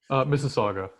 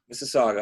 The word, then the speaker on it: Mississauga: i'm sorry i don't even know how to pronounce that i know that's mississauga mississauga okay so uh bookkeeping tax services that's its